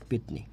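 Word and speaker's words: পেত্নী: আচ্ছা, তারপরে লিখি এই পেতনিটাই লিখি, সঠিক বানানটাই লিখি, পেতনি। পেতনির উচ্চারণ যে লিখি, তাহলে উচ্চারণটা হচ্ছে কি?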